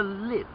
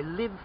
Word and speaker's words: live: of the book okay let's try another to live yeah l-i-v-e yes i live in a house but perhaps you uh watch a concert on television and the concert is live direct happening at that moment okay